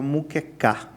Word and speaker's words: muquecá: Porque por mais que o nome muqueca, né, da maneira que se escrevia, né, que era com mu k, é isso aí, se se pronunciava muquecá, não tinha nada a ver com o prato muqueca do Espírito Santo.